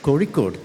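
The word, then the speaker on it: Kozhikode: especially when you're going from a place like corod not Calicut most people outside Kerala can't even pronounce the name of our city correctly uh even this the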